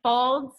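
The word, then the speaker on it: Faulds: Dana da n na I'm pronouncing it folds but it's f a ul D s F a ul D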